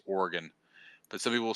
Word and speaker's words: Oregon: two syllables right it's organ but some people say Oregon right they like they they get that e in there somehow but it's just organ Oregon I think I